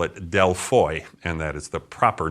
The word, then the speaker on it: Δελφοί: matter which we englishspeaking people choose as our pronunciation of the site the Greeks call it deloy and that is the proper name for this